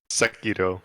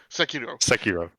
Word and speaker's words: Sekiro: Swiss, would you please pronounce it for me? Because I know I'm butchering it. Sekiro. Sekiro.